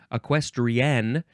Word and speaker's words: equestrian: next word is equestrian you do have to emphasize that last syllable equestrian because it is spelled